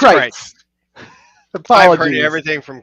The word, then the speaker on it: Crietz: It's Crietz.